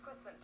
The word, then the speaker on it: puissant: Puissant? Hold on, let's give that a type in just so I know what that word means, because I never even heard of it. How do you say it? Puissant.